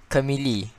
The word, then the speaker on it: Camille: Nicholas, teach me how to pronounce this champion's name. This one right here. Camille. Camille.